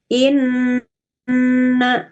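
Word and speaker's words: إِنَّ: Jadi cara membacanya itu inna, ya. Kalau ditulis Latinnya nunnya n-nya 2 gitu ya. Ya. Gunnah musyaddadah. Menahan ya, gunnah inna sambil dengung. Kemudian ya. Ya, tidak cukup hanya inna tapi inna.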